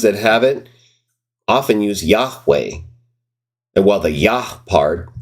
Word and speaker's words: Yahweh: Dead Sea Scrolls, 4Q Leviticus B, uses a pronounceable form of the divine name in the Old Testament text. Yahweh is how it's represented.